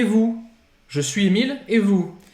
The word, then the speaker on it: vous: Et, Vous. não pronuncia o S. Não pronuncia o S. E o OU você já sabe que tem um som de U.